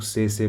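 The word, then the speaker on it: tsetse: नाम लिखा र है लेकिन इसको हम लोग से से प्रोनाउंस करते हैं और इनकी वजह से एक बीमारी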